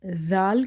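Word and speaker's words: ذال: So in order to pronounce Zal correctly you have to touch the tip of your tongue with the inner edges of your top two front teeth.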